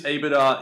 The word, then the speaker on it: EBITDA: EBITDA, is that how you say it? EBITDA? Yeah, EBITDA.